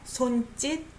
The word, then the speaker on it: 손짓: You know, S underneath sounds like D, right? 손짓, 실루엣, 몸짓, right?